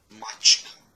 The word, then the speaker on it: mačka: Mačka, mačka. Por exemplo. Nesse mačka não tem um TSH em croata.